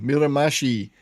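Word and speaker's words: Miramichi: So the the team that I was desperately trying to pronounce properly, Mirram Mashi. Mirramashi is near his hometown in Frederickton, New Brunswick.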